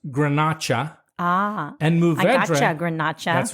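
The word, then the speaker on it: Garnacha: you got it but when we talk about those grapes in Spain Grenache is actually pronounced grenacha ah and movement that's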